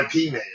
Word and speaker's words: Ip Man: a misspelling you know it's ip man instead of like yeah you know yep yep that's actually the way the cantonese pronounce it you know they can't